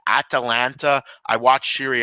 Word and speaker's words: Atalanta: I'm aware that it's Atalanta.